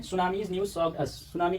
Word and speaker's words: tsunami: अच्छा हाँ, सुनामी में टी साइलेंट होता है, TSUNAMI सुनामी।